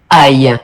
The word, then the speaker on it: ail: Ale, how do you pronounce it? It's masculine. Aille.